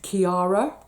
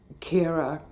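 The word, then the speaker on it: Ciara: Now, we pretty much all mispronounced this at the time by calling it Kiara. It wasn't. It was Storm Kira.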